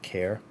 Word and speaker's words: Khair: cream gelato it's a care I was told the H is silent care pistachio from Paris Corner